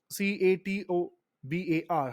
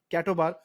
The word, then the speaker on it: CATOBAR: you mean by cat or cattle bar or c-a-t-o-b-a-r how do you pronounce this catobar and what do you mean